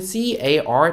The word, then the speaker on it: car: 하죠 렌트카라고 하죠 자동차는 car 되겠고요 발음은 카가 아니라 carm call 해요 우리 알 발음 입천장에 혀 되지 않고 해주시면 좋겠다 다음장이요 다음 장 보면요 어